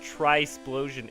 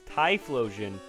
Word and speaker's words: Typhlosion: quill apparently is correct but Quinta lava and try Splosion isn't it's Typhlosion and quill AMA and I'm like what because